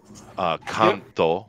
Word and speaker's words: Kanto: Kanto would be the proper pronunciation, but okay.